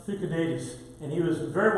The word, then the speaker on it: Thucydides: interesting in these minuscules, and that would be pronounced Thucydides, and he was a very well-known historian, a Greek historian who wrote a lot during the Peloponnesian War.